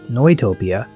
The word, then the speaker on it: Neutopia: So, Neutopia, or since Japanese game companies have a fascination with German names, this might be pronounced Neutopia, is in many ways a very high quality game.